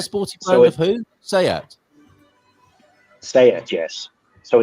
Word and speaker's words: SEAT: S-E-A-T, but it is pronounced Seat.